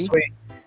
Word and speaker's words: Sui: Is it Sui? Sweet. Yep. Sui?